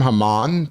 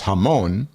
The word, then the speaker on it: Haman: holiday of purim and the hebrew name haman pronounced in some yiddish dialects as hamon sounds a lot like moan german for poppy seeds the biblical villain homan